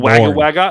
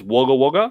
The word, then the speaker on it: Wagga Wagga: That's not how you pronounce it. It's Melbourne. Melbourne. It's not Wagga Wagga. It's Wagga Wagga.